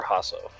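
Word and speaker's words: Jhasso: spelling is j-h-a-s-s-o but i think the j is silent so just hustle okay or see your jason or hasso hasso family yeah we'll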